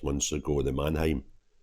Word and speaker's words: Mannheim: 6 months ago the Manheim Manheim is how you pronounce it um Manheim attacks where